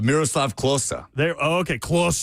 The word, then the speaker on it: Miroslav Klose: Oh, Miroslav Klose.